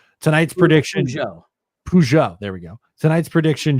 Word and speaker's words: Peugeot: Pugot. I don't know how to say this name. Tonight's prediction. Peugeot.